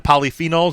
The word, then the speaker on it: polyphenols: is the uh do I have a correct pronunciation the polyphenols is that it yeah that's right so pools